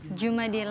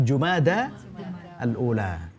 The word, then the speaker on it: Jumadal Ula: Kemudian Jumadil Awal. Jumad. Jumada alula. Jumadal alula. Jadi pengucapannya yang benar adalah jumadal ula. Bukan jumadi tapi jumada alula.